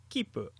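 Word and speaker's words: 切符: There is a special way to write this in native Japanese, so you will know when to pronounce it correctly. But for now, just know that this is the case. Here is an example of the word for ticket with a double P sound: kipu.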